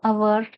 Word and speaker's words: hour: A hour to an hour silent h in the hour.